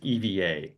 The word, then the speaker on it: EVA: you're at an EVA Air Lounge they will pronounce it as Eva which to me seems bizarre so I always still pronounce it Eva but they actually say missed opportunity for something